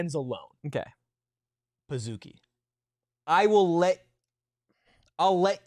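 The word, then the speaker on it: Pazookie: z what p i pizuki not Pazuki like can I get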